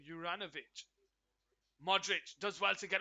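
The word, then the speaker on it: Juranović: Goes out to the right side towards Jurovic. Juranovic, sorry, is how you pronounce his name. Juranovic.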